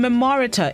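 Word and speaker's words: memoriter: 13th century word of the day this morning memorita it's spelled m-e-m-o-r-i-t-e-r an adverb which means by heart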